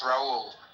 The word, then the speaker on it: Raul: name R a H Rahul like you know that Brazilian Carina Carina you know you just don't say the H okay it's Raul oh Raul Okay.